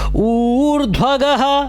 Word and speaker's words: ऊर्ध्वगः: ऊर्ध्वगः, देखिए बड़ा ऊ है तो ऊर्ध्वगः ऊर्ध्वगः सत्पथाचारः प्राणदः प्रणवः पणः।